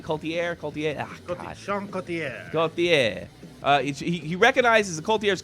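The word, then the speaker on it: Couturier: Sean Coultier.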